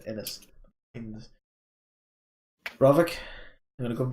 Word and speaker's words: Ainz: I think I've been pronouncing that wrong in the last few podcasts. I would say Innis.